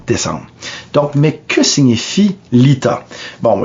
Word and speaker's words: Litha: Donc, mais que signifie l'Ita? Bon, l'Ita se prononce Lita, mais c'est assez facile à comprendre.